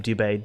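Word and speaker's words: Dubé: i learned that from will dubai i think he gets how you say his name dubai d-u-b-e he's uh in canada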